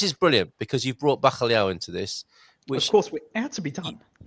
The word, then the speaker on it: bacalhau: B with a soft A, K, C with a soft A as well, Liao, which is a very difficult syllable to pronounce.